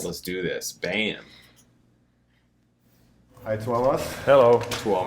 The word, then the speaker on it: Tuomas: Tuomas. Is that right? I think it's Tuomas. Yeah, I know that people have put it phonetically, but sometimes you have to hear it, you know.